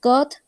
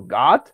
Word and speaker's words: good: En este caso, esta palabrita se pronuncia good. Así tal cual. Good. Porque si lo pronuncias como God, estás diciendo Dios. Okay. Hay que tener Sí. cuidadito con eso. Entonces, la palabra se pronuncia good. Si tiene doble O, normalmente se va a pronunciar como una U. Good. Si tiene solamente una, se pronuncia como God.